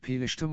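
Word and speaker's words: פלשתים: The term Palestine has connections to the ancient Hebrew term, pronounced Pelishtim or Pelishtin, which refers to the Philistines, an ancient people who inhabited the southern coastal region of the Levant.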